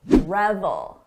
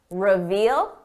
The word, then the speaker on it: reveal: very common word reveal we're talking about revel revel reveal Revel notice the difference in the vowel sound this is a short sound o Revel long sound reveal he reveled in his